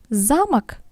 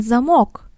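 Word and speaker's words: замок: to be learned separately for instance zamak which is a castle and zamok which is a lock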